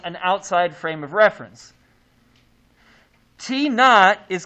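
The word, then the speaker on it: t₀: Now, it's pronounced t naught, not t0. And it's not to.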